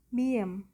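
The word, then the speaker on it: 미음: Konsonan tunggal kelima adalah biem. Pelafalannya mendekati huruf alfabet M sehingga bunyinya menjadi me, me, me.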